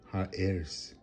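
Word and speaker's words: ארץ: earth all right or the land heirs is the right way to pronounce that high heirs it hires so again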